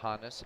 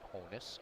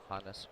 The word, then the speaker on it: Honus: is hotness Wagner not Honus Wagner it's honest after his German first name Johannes so just a little